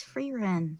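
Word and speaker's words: Frieren: Yeah, it's Free Ren.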